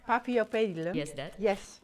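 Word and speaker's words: Paphiopedilum: The papillopedium. Papillopedilum.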